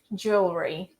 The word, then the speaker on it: jewelry: So it makes you think that it's actually jewelry, jewelry, jewelry, jewelry. But it's not. This word is actually pronounced as jewelry, jewelry. It's like this letter E in the middle simply doesn't exist, second E.